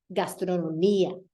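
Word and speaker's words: gastronomía: IA endings, you're only going to emphasize it if your I is accented. Otherwise, it needs to fall on the syllable beforehand. Memoria, historia, gastronomia. There I pronounce there I emphasize the I.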